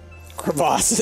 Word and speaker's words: crevasse: Crevasse. It's pronounced crevasse.